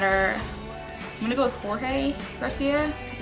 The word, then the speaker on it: Jorge: um some of the stars in that are I'm gonna go with Jorge Garcia because it's spelled j-o-r-g-e but in Spanish it's pronounced Jorge um anyway boy